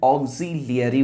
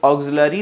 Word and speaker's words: auxiliary: पहले प्रकार के वर्ब्स को कहते हैं ऑक्सिलियरी वर्ब्स, AUXILIARY, ऑक्सिलियरी। याद रखना, ऑक्सिलियरी वर्ब्स, स्पेलिंग याद रखना। और इसको ऑक्सिलरी नहीं पढ़ देना, कई बच्चे पढ़ते हैं ऑक्सिलरी, नहीं ऐसा नहीं है, इसे पढ़ेंगे ऑक्सिलियरी।